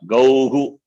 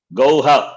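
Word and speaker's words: गौः: You should not say Gauha, that is wrong. Okay. You should not say Gauha. This Visarga doesn't have independent pronunciation. Takes the sound of the vowel, preceding vowel.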